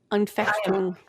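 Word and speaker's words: Anfechtung: It starts with an A. It's like Afutung or something like that. Unfechtung.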